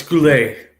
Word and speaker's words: Goulet: Oh, it's Goulet. Okay, so I was right.